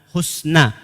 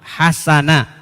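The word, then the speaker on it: حسنا: Husna. Di qiraah yang lain, yang pernah belajar qiraah itu hasana. Ada juga cara bacanya hasana.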